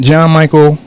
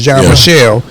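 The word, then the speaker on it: Jean-Michel: now nothing against bosot John Michael John Michelle that's how it's pronounced John Michelle you know what I'm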